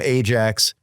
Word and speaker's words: Ajax: between makabi and uh a club from Amsterdam Ajax uh that's how you pronounce it um and this was not a